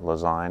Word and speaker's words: Lezyne: design maybe that's why lazy rhymes with design never thought of that